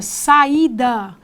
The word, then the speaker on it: saída: duas vogais vejam bem aqui eu tenho três sílabas a segunda é a tônica saída eu não pronuncio saída nem sai da eu pronuncio saída com toda com toda a demora né com toda valorização desta